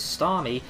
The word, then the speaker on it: Starmie: predicts that very nicely, goes out into his Starmie.